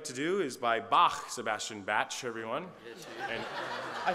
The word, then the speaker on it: Bach: from the Baroque Era batch it's pronounced Bach it's Bach really yeah are you